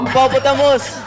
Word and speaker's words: hippopotamus: This animal name has five syllables. Hippopotamus. Using American English pronunciation, we're putting the stresses on the first and third syllables.